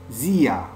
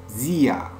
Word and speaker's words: sehr: Zia. Zia. On prononce pas R à la fin. On prononce ya.